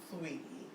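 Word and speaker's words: Saweetie: Her name is Sweetie with an A. Yeah. So That's sweaty. but she pronounced it Sweetie.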